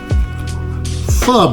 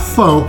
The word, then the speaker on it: pho: being said I went out and found f broth all right and it is pronounced F like you know you know how so it's pronounced F not fo but f as the proper way to pronounce